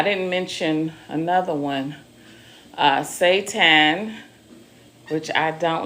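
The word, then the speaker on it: seitan: I didn't mention another one, uh, Satan, which I don't like.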